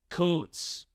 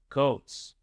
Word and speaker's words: Kuntz: The last name of the German soccer coach we interviewed earlier this week is pronounced Coates. Coates.